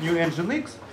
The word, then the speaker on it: Nginx: Соответственно, Nginx был разработан, читается как New Nginx, Игорем Сысоевым, очень уважаемым, мной уважаемым программистом.